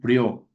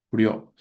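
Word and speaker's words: Prieur: Acá en el derecho ambiental tenemos nosotros a Michel Prió, Michel Priur, solo que se pronuncia prior.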